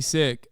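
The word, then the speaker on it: Sikh: really care okay but that is how you're supposed to say it in the language that's how you say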